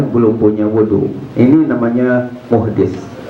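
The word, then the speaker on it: محدث: Ini namanya muhdis. Bacanya jangan muhaddis. Kalau muhaddis nanti ahli hadis.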